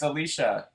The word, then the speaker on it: Alicia: life I'll find you you said my name wrong but that's okay it's Alicia Alicia look at him